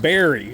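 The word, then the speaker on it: Barre: We're in the town of Berry, which I totally would have called bar. B A R R E.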